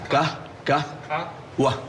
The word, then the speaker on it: Qahwah: Pronounce Qahwah for me. Qahwah. Listen, Qahwah.